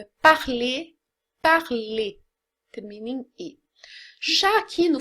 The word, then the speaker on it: parler: dizer ar ler né esse r não é pronunciado parler tá ruim femini shake